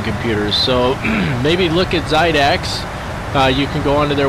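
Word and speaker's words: Xidax: He actually does build gaming computers, so maybe look at Zydax.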